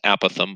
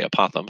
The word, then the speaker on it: apothem: do the apothem split now technically it's pronounced a Pithom but I think it sounds cooler when I say apothem so that's what I'm gonna do do the apothem